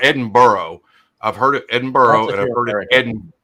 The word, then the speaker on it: Edinburgh: Edinburgh. That's my understanding. Oh, there's Ben Larard there. He'll he'll Edinburgh. Okay. Not Berg.